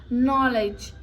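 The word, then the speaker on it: knowledge: लेट me tell you when के is there और उसके बाद के के बाद एन आता है और एन के बाद कोई भी वाउल साउंड आता है कोई भी वाउल लेटर आता है तब हम के को साइलेंट करते हैं जैसे नाइफ नॉलेज नी इसमें क्या है के आ रहा है उसके बाद एन आ रहा है एंड जस्ट उसके बाद क्या आ रहा है एक वाउल साउंड आ रहा है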